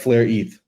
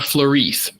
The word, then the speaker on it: Flare ETH: And so you pronounce it Flare ETH. It's not FLRETH. Well, I guess it depends how you want to spell it, right? I think FLRETH is easier on people's tongues.